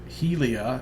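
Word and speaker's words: Hylea: Had some good stuff to say about uh Helia, as apparently you pronounce it. At least that's the way Adair pronounced it a second ago.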